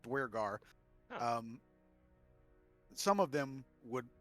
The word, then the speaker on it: duergar: always said too but there's not an r in it there's not that extra r but there yeah so i i looked it up they're pronounced duergar um some of them